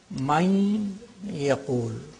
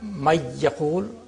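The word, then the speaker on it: من يقول: How do you pronounce it? You say Main yaqul. The noon, nasality of the noon is there. Main yaqul. Min wal. It's not may yaqul, miwal, no.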